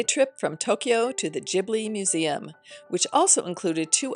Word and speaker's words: Ghibli: Now let me say that there are two ways to pronounce Ghibli or Ghibli. The founder, Hayao Miyazaki, has said you can pronounce it either way, but our tour guide said Ghibli is correct, so that is how I will pronounce it here.